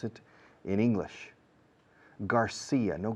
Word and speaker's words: Garcia: Garcia, no García. Si decís García, un angloparlante visualiza una TH en medio, no una C. Porque la C en inglés se pronuncia como la S, al igual que en México o Argentina, en Latinoamérica.